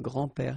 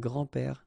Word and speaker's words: grand-père: Okay, so it's not really difficult, and especially if you think about that, you don't pronounce this s, so actually phonetically it's the same, grand-père here and grand-père here.